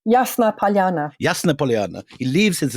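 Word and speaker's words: Ясная Поляна: How do I pronounce it? Yasnaya Polyana? Yasna Polyana.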